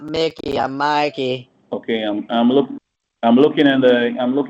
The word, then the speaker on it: Mikey: Your name is I'm not m I'm not Mickey. I'm Mikey. It's Mikey. There's no C in my name.